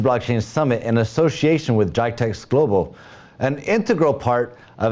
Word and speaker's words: Geidea: And I think I pronounced Geidea correctly that time, correct?